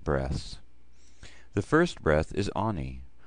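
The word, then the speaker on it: אני: The first breath is Ani. Ani.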